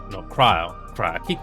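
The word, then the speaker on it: Krile: And so for the current uh main story that I did for last week, basically it's all more backstory with Krill. No, Kryle. Cry. I keep mispronouncing her that character's name.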